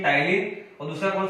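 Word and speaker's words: ptyalin: T silent है तो नाम क्या हो जाएगा, टाइलिन।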